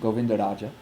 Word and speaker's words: Govindaraja: It would be pronounced Govindaraj. I'm sorry, that's supposed to be a ja. I know, I'm sorry, good eye. That's what I thought. No, I know, I don't know why I did that. So, ja. So it's pronounced Govindaraj, but, I would pronounce it Govindaraja.